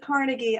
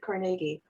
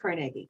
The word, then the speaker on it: Carnegie: carnegie pennsylvania or nagi oh carnegie yes everybody pronounces it carnegie i don't the the carnegie family pronounces it carnegie i used to work i used to work